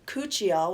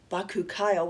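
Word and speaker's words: bakuchiol: retinol moth bean extract cucciol which i've also heard pronounced baku kyle which is just really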